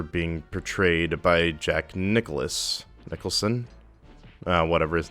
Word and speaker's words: Nicholson: Nicholson hold on I gotta see how you pronounce that goofy goofy me yeah okay it's Jack Nicholson so he betrayed the Joker kind of like